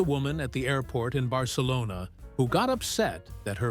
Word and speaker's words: Barcelona: The agent, very patiently, explained that it's pronounced Barcelona, with an S sound. The woman insisted the travel agent back home said, Barcelona.